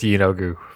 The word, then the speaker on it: Yeenoghu: Uh yes, we are going to go with Yeenoghu for for this particular suite. I don't care for the other pronunciation.